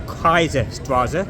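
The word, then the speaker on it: Kaiserstraße: the M Kaiser streets it's called or Kaiser straza as pronounced in German is another one of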